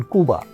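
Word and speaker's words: Cuba: আপনারা যারা একদম সহি ভাষা শিখে অনুবাদ করেন, যেমন আপনি বলেন কুবা, আমাদের সাধারণ মানুষ তো কিউবা চেনে, আপনারা বলেন মেহিকো, আমরা মেক্সিকো বলতেই কমফোর্টেবল হয়ে যায়।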